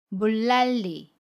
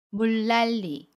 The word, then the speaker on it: 물난리: 도 이 일로 발음합니다 그래서 물난리 라고 발음 해요 물난리 첫소리 잠이 은을 밀로 발음 하고요 아침 니은 도 밀로 발음합니다 물난리 서울의 물난리가 났어요